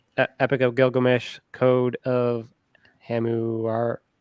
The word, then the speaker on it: Hammurabi: Epic of Gilgamesh, Code of Hammurabi.